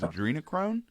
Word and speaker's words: adrenochrome: to be talking about, I believe the proper pronunciation is adrenochrome, the chemical conspiracy theory that it's coming from young children are being harvested and it's used as the fountain of youth.